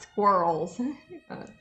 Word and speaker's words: squirrel: like, "Okay, yes, we're talking about squirrels." But yeah, we have them in our yard. Yeah, we pronounce it like SKWIRL. Yeah, even squirrel. Without the I almost, it's squirrel.